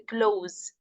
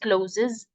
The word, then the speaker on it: clothes: So please pronounce it as close. You know, the close the window, close the door. Okay, as a verb. So it's a close, not closes.